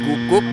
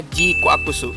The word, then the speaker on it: GQuuuuuuX: J kakusu Yup guys udah di-confirm ya bacanya bukan gukuk bacanya bukan jicwaks bacanya juga bukan jincuks Gundam yang film prolognya muncul tanggal 17 Januari kemarin ini bacanya jikakusu seperti ini saya mau mengucapkan terima